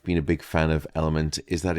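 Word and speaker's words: LMNT: of today's podcast is element uh and that's spelled l m NT now element is a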